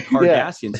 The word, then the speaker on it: Cardassians: He almost He hates them so much he doesn't even call them Cardassians. He calls them Curdassians. Oh my god. calls them the Curdassians. I'm like, it's five seasons in and he's still mispronouncing it.